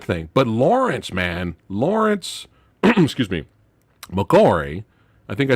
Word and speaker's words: McCoy: But Lawrence, excuse me, McCoy.